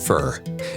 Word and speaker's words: Phở: Vietnam's fur, fent, pronounced fur, is Vietnam's most iconic dish.